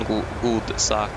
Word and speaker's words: godsak: You miss a D there on Godsak is how it is written, but it sounds. It's spelled like or. It is Godsak when you are talking, if you understand what I mean. The oral pronunciation is Godsak. The D is not. You don't say the D basically.